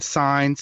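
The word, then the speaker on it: Saenz: And that's Jason Sines. Sines is spelled S-A-E-N-Z.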